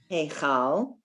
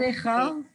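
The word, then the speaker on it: היכל: Heichal. Not Echal. Heichal. Not a O. Not Echol. No.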